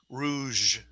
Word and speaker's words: rouge: So when you ladies put the red on your cheeks, if you do, that's called rouge.